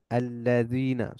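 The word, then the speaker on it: الذين: সিরাতাল মুস্তাকিম সিরাতাল্লাজিনা আলাইহিম এখানে লামকে গিয়ে ধরতেছে এখানে আলিফ সাইলেন্ট বাট লামটা সাইলেন্ট না লামের উপর সাদ্দা আছে লামকে গিয়ে ধরতেছে সিরাতাল্লাজিনা আল্লাজিনা সিরাতাল্লাজিনা সিরাতাল্লাজিনা আনআমতা আনআমতা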